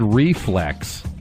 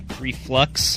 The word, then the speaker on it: reflux: It's a mispronunciation. My bad, Fleming. Can we still hang out? No. Drew said acid reflex. Reflux?